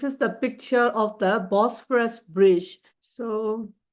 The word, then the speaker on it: Bosphorus: အဲ့တော့နောက်တစ်ခုက this is the picture of the Bosphorus Bridge. So how do you pronounce it?